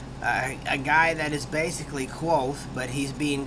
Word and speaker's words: Kvothe: meet a young guy by the name of quo uh which of course that's how you pronounce it it's actually spelled KV uh t h but it's pronounced quo and uh it's it's an awesome story about